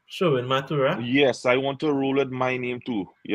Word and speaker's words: Sherwin Mathura: You If want let's to put go a with so very short name, Sherwin Mathura, I'd roll up. That's what, yes. 4 syllables. Sherwin Mathura.